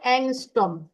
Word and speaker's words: অ্যাংস্ট্রম: Pronunciation করে অ্যাংস্ট্রম, অ্যাংস্ট্রম।